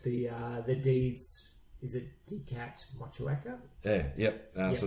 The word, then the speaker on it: Motueka: It's an Aussie thing, and trust me, I've spoken a bit of Māori in my time, so it's Motueka. So okay, so the E's pronounced almost on its own.